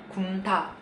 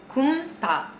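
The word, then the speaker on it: 굶다: Yang dipilih itu adalah huruf M-nya. Jadi kata ini dibacanya kumta, kumta.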